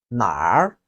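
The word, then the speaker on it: 哪儿: Then the third one, where in Chinese is pronounced as nåli and nar. It has two pronunciation methods. The first method, which is nåli, is pronounced by the southern part of Chinese.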